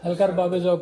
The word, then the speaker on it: حلقہ ارباب ذوق: ये exact pronunciation है हल्का बाब ज़ौक़ पिस्काटवे न्यू जर्सी, पिस्काटवे।